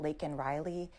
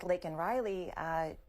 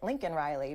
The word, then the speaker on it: Laken Riley: Unfortunately for him, he said the wrong name. He said Lincoln Riley.